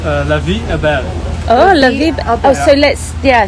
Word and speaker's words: La Vie Est Belle: how to properly say it it uh it's pronounced La Abel oh oh so let's yeah so it's a